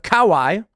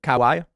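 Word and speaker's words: Kauai: on the island of Kawai is how you pronounce it Kawai 10 miles from the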